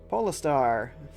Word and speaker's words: Poo: is doing an awesome job of praying here poar that's how you say it the cat's going